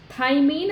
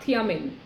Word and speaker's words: thymine: uracil and remember this you should pronounce as thymine and not thiamine uh thiamine that is a different molecule that's a vitamin actually so this is thymine